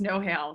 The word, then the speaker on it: Nohejl: The next alumni is Nohejl. Sorry if I mispronounced your last name. No, you're great. It's Nohejl. So I'm Nohejl, and thank you very much for having me.